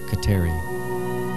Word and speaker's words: Kateri: tekaweetha was baptized and took the christian name catherine or as it is pronounced in her language khateri from that day on she